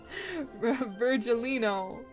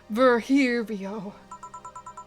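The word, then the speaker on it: Virgilio: Virgilino. We meet again. Bartender. You look winded. Virgilino. It's pronounced Verhirio.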